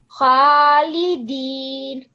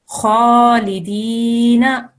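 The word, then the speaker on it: خالدين: Remember with the kha, we have to make a round mouth. Khalidina.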